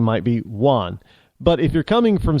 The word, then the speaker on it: Juan: your name might be Juan but if you're coming from South of the Border it's Juan Juan with a W it's Juan because a j is not it's Juan so I'm